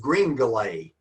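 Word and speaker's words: Gringolet: It is Greenlay, and it and it's spelled G R I N G O L E T. kind of like Chevrolet is not pronounced Chevrolet. It's Chevrolet. His horse is Greenale, a French name.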